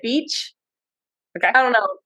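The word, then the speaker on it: Bitche: called it's spelled okay I think you say it Beach okay I don't know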